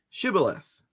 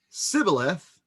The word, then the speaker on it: Shibboleth: If he answered no, they told him, well, please say Shibboleth. If he said Sibboleth, because he could not pronounce it correctly, they seized him and executed him at the fords of the Jordan.